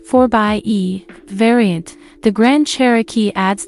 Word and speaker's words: 4xe: the grand cherokee with the 4-axi pronounced 4 by e variant the grand cherokee